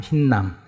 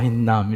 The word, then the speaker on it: הינם: 앞에 그 모음이 2개 붙어야 되는데 이렇게 점 2개가 이렇게 붙으면 맞는데 우리 한글 발음대로 흰남이라는 단어, 흰남.